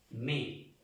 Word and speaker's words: mai: ¿Qué se escribe? Me. La A y la I suena o se pronuncia E. Me.